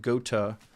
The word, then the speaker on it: Goethe: Addie says can be pronounced Gotha, but the name is more commonly pronounced Goethe, according to Google.